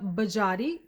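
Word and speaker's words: Biagiotti: First up is Laura Bajati. Thank you to the subscriber that shared with me how to pronounce Bajati. Hope I got that right.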